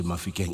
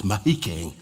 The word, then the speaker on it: Mahikeng: It's the Monachotlas, Agiri from Marikane side, and then here between Mahikeng, not Mafikeng. You know, for the white people, you say Mafikeng, it's Mahikeng. Agiri Barolong pronunciation.